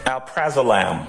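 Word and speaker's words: alprazolam: got to be prescribed right yes okay um Al praam am I pronouncing that right yes Al yeah um one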